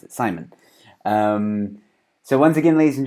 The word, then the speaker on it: Saayman: you just told me that that's how you pronounce it Simon so once again ladies and gentlemen as you